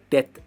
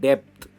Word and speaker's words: death: इसकी प्रोनाउंसिएशन है डेथ एंड नॉट डेप्थ, भी इसमें साइलेंट है।